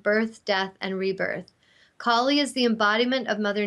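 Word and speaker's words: Kali: time to move on so this one is pronounced colie and it's the ultra powerful Hindu goddess is feared by those who don't understand the natural cycles of birth death death and rebirth collie is the embodiment of Mother Nature who cleanses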